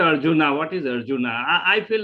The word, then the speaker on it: Arjuna: let me answer you the correct pronunciation is not urgent it is Arjuna Arjuna um it is not